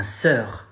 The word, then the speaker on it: sœur: You say ma sœur. Sœur. The final is very brief and short.